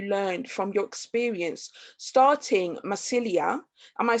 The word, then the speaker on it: Mycelia: What was the biggest takeaway lesson that you learned from your experience starting Mycelia? Am I saying it right? Mycelia, yeah.